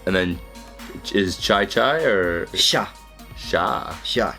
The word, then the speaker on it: sha: And then is chai or Sha. sha? Sha. Chai is not chai, but sha.